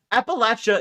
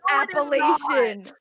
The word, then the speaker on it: Appalachia: don't know what does old gods appalachia is the right way to pronounce it no way no it's appellation what do you want me to say appalachia say it's the appalachians i have looked this